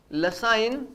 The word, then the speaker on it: Lassaigne: नाम याद करना, लसाइन टेस्ट। क्या नाम है? लसाइन टेस्ट। जी यहां पर साइलेंट होता है।